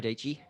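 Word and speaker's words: Dietschy: Sarah Dici. Rhymes with peachy.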